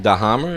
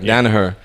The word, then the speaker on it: Danaher: Of course, I always pronounce his name wrong. Dahammer. I mean, he's a Danaher. Danaher.